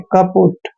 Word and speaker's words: kaput: Next है KAPUT, इसको पढ़ते हैं हम कपुट। के ए का उच्चारण हम कै करते हैं, पी को पै पढ़ना है, यू को की मात्रा पढ़ते हैं, और टी का उच्चारण टे करते हैं। कपुट।